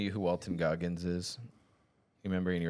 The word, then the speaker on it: Walton Goggins: Wait, Walter Goggins. Who is Walter Goggins? Yeah, it's Walton Goggins. Walton Goggins. Dang, you made me say it wrong.